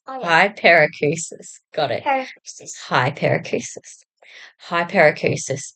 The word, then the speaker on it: Hyperacusis: You know how to pronounce it? Okay, this is my daughter. Hyper. I Hy- think. Hyperacusis. Oh, yeah. Hyperacusis.